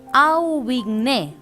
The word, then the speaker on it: Aubigné: es un autor alemán, D apóstrofe el apóstrofe, Aubigné, A-U, B larga I, G-N-E, acento en la E.